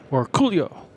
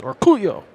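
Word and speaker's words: Orcollo: Or Coolio. He told us that's how we have to say his name. I asked him, how do you say your last name? He says, Orculio.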